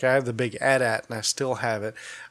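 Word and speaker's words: AT-AT: thanks back Imperial Walker that's yeah it's the 8080 which is the wrong way to say it is pronounced a DAT oh well aren't you just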